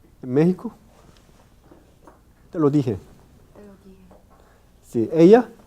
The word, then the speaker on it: México: si fuera español entonces en los españoles pronuncia como consonante velar los mexicanos pronuncia como